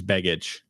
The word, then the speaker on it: Begich: Yeah, I think it's Begich.